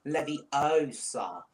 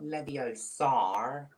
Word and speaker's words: Leviosa: Besides, you're saying it wrong. It's Leviosa, not Leviosar.